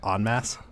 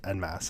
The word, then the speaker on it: En Masse: the very first time, it is pronounced en masse and not en masse.